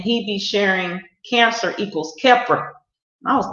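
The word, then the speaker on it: Khepra: that but since then i've learned that it's keppra and how to pronounce it so i'm familiar now so that's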